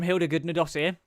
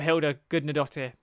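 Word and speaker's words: Hildur Guðnadóttir: And the score from Hilda Gudnadottir, finally know how to say her name, the Oscar-winning score from Hilda Gudnadottir, may I say, absolutely nailed it.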